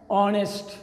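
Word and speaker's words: honest: আসো দ্বিতীয় অর্থাৎ সর্বশেষ যেই উদাহরণটি আমি দিচ্ছি সেটা হচ্ছে এন অনেস্ট, অথচ এখানেও এইচ যে শব্দটি দিয়ে শুরু হয়েছে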